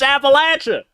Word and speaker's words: Appalachia: I know how it's from here. I'm from here. That's what it's called, man. It's Appalachia. That's the right way.